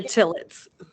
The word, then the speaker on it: Tillitz: I'm sorry, how do I pronounce her last name? Cara Tillitz.